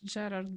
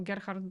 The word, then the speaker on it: Gerhard: Ferrari we have now Gerard Berger or Gerhard Berger I mean that depends on whether you want French or German pronunciation so well the austrians